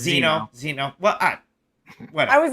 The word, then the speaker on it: Zeno: Is that how you say it? No, it's Zeno.